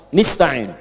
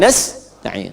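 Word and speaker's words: نستعين: na'budu Wa iyaka nastain ada yang baca pakai kasrah nistain ya nistain ini bacaannya dari bani Asad rabiah dan Bani Tamim tapi kita baca harus menggunakan fathah kalau untuk kita ya jadi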